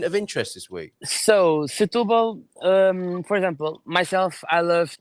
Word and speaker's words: Setúbal: How do you pronounce it, Claudio? Setúbal. Setúbal.